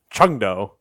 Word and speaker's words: Chengdu: All right, so Hangzhou, Chengdu, and Chengdu.